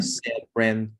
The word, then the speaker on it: cerebral: So where is the emphasis? In the middle, right?